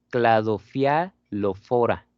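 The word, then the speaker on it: Cladophialophora: Cladofialofora. Cladofialofora, ¿sí? pH entonces lo pronunciamos como F. Cladofialofora, ahí está.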